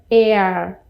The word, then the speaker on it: heir: Aqui já é air. É igualzinha a pronúncia da palavra ar.